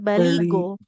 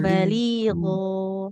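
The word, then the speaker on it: بليغا: Kemudian di pengucapan ini ya huruf ginnya baligh tidak baligo ya. Jadi enggak betul betul mirf huruf G. Tidak go tapi gho gho bal baligho bal.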